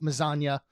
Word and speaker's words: Mazania: Best name ever because it rhymes with lasagna. And I was appreciative because he messaged me, and before I had time to ask, he said, my last name sounds like lasagna.